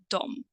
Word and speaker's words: de: now the spelling is consists only of two letters d and e but the pronunciation is Dom Dom although I have to